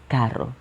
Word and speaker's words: carro: beginning of the word, you need to add a second letter. In this case, the letter R, for you to pronounce like this, carro, carro.